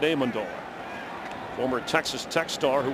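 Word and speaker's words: Amendola: Max Hall the backup as Danny Aandola and that's how he likes it pronounced by the way Aandola. He said if people call me Aandola I don't mind but in our family we like it Aandola.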